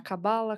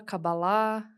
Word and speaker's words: cabala: né independe na verdade você pode falar cabala cabalá né normalmente você vai ouvir O Judeu falando cabalá né ele ele por causa da entonação e e a sílaba Mas independente a palavra